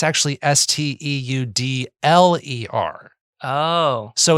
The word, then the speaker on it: Steudler: I thought there was an IER and I thought there was something French going on there.